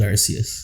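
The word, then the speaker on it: Arceus: I think I I always said Archus, but I think it is Arus.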